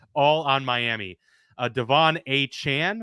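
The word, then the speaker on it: Achane: on Miami uh Devon a Chan which is what he wants to be called apparently there was report he is not a chain he even told the Dolphins media staff uh to change the pronunciations in the media guides it is a Chan apparently uh the rookie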